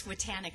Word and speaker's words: Swatanic: a challenge for me it's swatanic i always tell people think of titanic's titanic all right gotcha thank